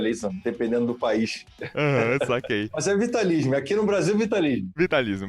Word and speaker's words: Vitalism: preciso então na verdade nós pronunciamos da forma mais tranquila vitalismo porque na verdade a procedência do nome é latinha cá então a